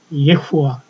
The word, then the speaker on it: 예후와: 왜냐하면 예후와 여호와 야호에 여러 가지가 있었습니다만 영어로는 지호바지만 여기서 스스로 있다는 요 뜻은 말이죠. 바로 여호와라는 스스로 계신 하나님이라고 우리가 알고 있지 않습니까? 그러면 지금에는 야호의 하나님 또는 여호와 하나님 이렇게 했지만 지금은 예후와 이렇게까지 발음이 됐어요.